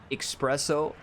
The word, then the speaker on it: espresso: at least in 1,000 somebody has corrected the way I pronounce espresso, saying there's no X in espresso.